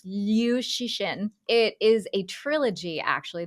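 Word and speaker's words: Liu Cixin: I'm not as familiar with the pronunciation. It's Liu Shixin.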